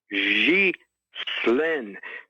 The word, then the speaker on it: Ghislaine: It's Ghislaine. It's hard to say a G with a Z, but a G, think of Xi Jinping. Ghislaine, S-L-E-N. Ghislaine. That's her pronunciation.